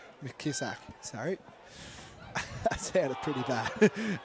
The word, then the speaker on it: Mckisak: The first wheel look and it might taken by Paige Mckisak. How you say it? Mkisak. Mkisak.